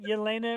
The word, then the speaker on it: Yelena: Yelena Yep.